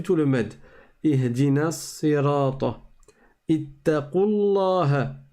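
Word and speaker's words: اتقوا الله: Ittaqullaha. On ne dit pas ittaqu. On fait complètement disparaître la prolongation.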